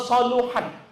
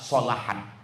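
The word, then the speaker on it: صلحت: Jadi kalau nanti ada ustadz ustazah ceramah, idza soluhat, salah. Yang benar adalah solahat.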